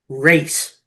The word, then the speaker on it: res: The trustee, that is the party that's responsible to the beneficiaries, who are those for whom the trust race. It's spelled RES, but that simply means thing.